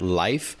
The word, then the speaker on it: Lyf: We're joined by Kate McDonald, head of operations and product at Life, which is spelled l y f.